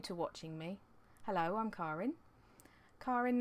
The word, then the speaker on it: Karin: Karin is the proper German way to say it. It would be much easier if my name was spelt C-A-R-R-I-N, because then people would say it properly, because I get called all sorts, but that's okay.